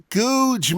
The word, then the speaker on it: Gouge: I think you will find that it's pronounced Googe, Max. Auntie Cathy will have another go at the bits the vet took if you get it wrong twice.